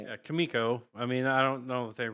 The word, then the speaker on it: Kimiko: Yeah, Kimiko.